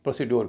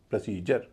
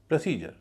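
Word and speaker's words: procedure: पूरे शब्द का उच्चारण होगा प्रोसीजर। प्रोसीजर ना कि प्रोसीडर। यहां डी का उच्चारण ज हो रहा है।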